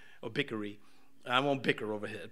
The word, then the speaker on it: Bichri: Now, you notice I've been skipping over how many times it's been said Sheba, the son of Bichri, or Bickery. I won't bicker over his pronunciations.